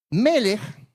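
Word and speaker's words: מלך: Melech es de rey. Melech en hebreo es rey.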